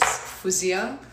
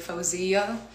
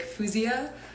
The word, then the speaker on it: Faouzia: way that my parents said my name is fuzia but like i have some friends that would call me like fawziya and then i grew up like saying my